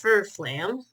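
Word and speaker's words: Fflewddur Fflam: Oh yeah, and by the way, it is pronounced Furflam. The only odd thing about his name is that he has 2 F's.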